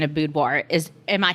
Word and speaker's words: boudoir: people just to say budoir budoir I just like a bu and a d but technically it is a French word it's the French word for bedroom and so the